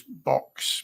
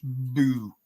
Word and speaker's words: Boux: I just took BOUX as box, you know, the French or whatever spelling as it is, but it's not. It's boo.